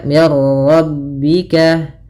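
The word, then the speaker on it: من ربك: Maka di sini langsung ke ro tanpa lagi terdengar suara mim nunnya. Ya. Maka mirar mirar. Minnya tipis rnya tebal. Mirarro. Maka mirbika. Tapi tidak disai dengan gunah.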